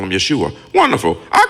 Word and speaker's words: Yeshua: Jesus is how you pronounce his name in English. Yeshua is how you pronounce his name in Hebrew.